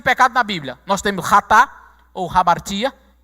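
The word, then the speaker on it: חטא: Nós temos ratá ou hamartia. Toda vez que você vira uma expressão em hebraico que começa com CH, você pronuncia ra, ok?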